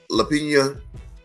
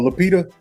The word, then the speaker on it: Lupita: But Lapina, how do you pronounce her name? Oh, Lupita.